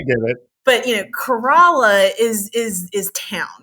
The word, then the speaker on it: Corolla: into like the it's it's like corala versus Corolla it's it's kind of